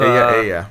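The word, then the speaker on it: Ella: It's Aya. Spanish for her.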